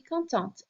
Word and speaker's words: contente: If you add the E on the end because you're a girl, you're describing yourself, then this T gets pronounced. Otherwise, if you're a guy, je suis content, you don't hear that last T.